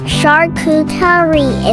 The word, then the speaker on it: charcuterie: is all we need for our charcuterie. We will boil our ham and hot dog. While it's boiling, let me tell you about charcuterie. What is charcuterie? In the French tradition, charcuterie, pronounced charcuterie, is the art of